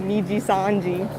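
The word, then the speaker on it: Nijisanji: most famous store close Fiji Sanji gotta say it like Celine apparently niji Sanji but yeah I feel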